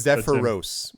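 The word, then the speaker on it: Zephyros: say properly SE sephos it's it's zeph Roose zephos think of zephyr like a wind little breeze and then Rose so like Ross zepos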